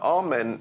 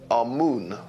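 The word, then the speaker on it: Amun: important deities was amen now amen is the pronunciation that the Hebrews give it and some Scholars agree to use that pronunciation amoon is the pronunciation given to it by one of the old European scholars plutar in the language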